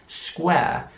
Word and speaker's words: square: Hier sieht man, dass das Wort mit einem Q geschrieben wird, also SQ. Es wird aber aus deutscher Sicht wie SK ausgesprochen. Square. Und das U wird auch wie ein U ausgesprochen, also nicht A, nicht nur ein langes A, sondern UA.